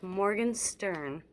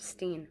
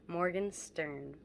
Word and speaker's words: Morgenstern: That drives me crazy when people mispronounce my real name, so it's Morgenstern, not Steen, Morgenstern.